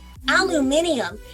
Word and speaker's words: aluminium: It's versatile, it's recyclable, and the British say it, aluminium.